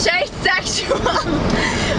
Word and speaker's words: Shaye Sexual: Shay sexual. Which rhymes with tray sexual.